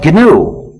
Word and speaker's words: GNU: so it's not new anymore so call it gnu says a GNU system there's another pronunciation error you need to avoid which sounds